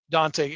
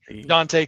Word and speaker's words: Dontay: She wrestled our champion, the Dontay, and you have to say it like that. It's the Dontay Khalifah.